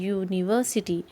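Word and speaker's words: university: यूनिवर्सिटी. यू या, यहाँ कौन सी साउंड आ रही है?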